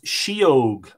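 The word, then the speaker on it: sídheóg: The Irish word for fairy is shee-ogue, and that is spelt S-I-D-H-E-O-G.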